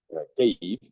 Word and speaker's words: Kyiv: Après Lviv, je suis allé à Kiev. Kyiv. Bon, j'ai appris à mieux le prononcer maintenant. Kyiv.